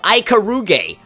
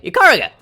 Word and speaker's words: Ikaruga: Some people might go as far as to call her Ikaruge. And so those people are just fucking brain dead. But either way, Ikaruga.